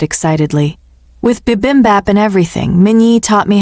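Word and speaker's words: 비빔밥: With bibimbap and everything.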